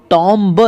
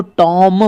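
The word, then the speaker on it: tomb: हैं हम यहां पर टॉम इसको टॉम ब नहीं पढ़ेंगे इसको टॉम पढ़ेंगे टॉम इसको पढ़ेंगे बम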